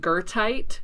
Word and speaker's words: goethite: So I talked with the geologist, and they were like, it's pronounced goethite.